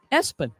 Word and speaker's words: ESPN: linebacker Gideon ESPN lampron his family pronounces it espen there you go it